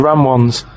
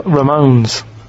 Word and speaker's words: Ramones: Yeah, they're- the ram ones, right? If you write that down, No, he's not even write it down. It's that's a. Ramones.